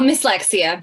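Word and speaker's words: Mslexia: longlisted for the 2019 MS Lexia. Is that how you pronounce it? Oh, Miss Lexia, just one word.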